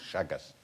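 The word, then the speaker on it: Chagas: question how you spell it's actually spell c h a g a s shagas I think it's some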